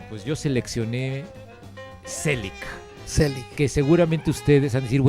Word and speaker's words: Zelig: Se llama Selig, es una película que se escribe, es un nombre que escribe con Z, Selig, y está hablando de un tipo que se llama Leonard Selig.